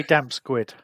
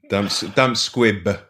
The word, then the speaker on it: damp squib: And did he say damp squid? Damp squid. Damp squib.